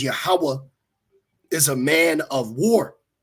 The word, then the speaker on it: Yahweh: See, Lord Yahweh, no V's. Okay. Yahweh. This is Assyrian. So in Paleo, it'd be pronounced Yahweh.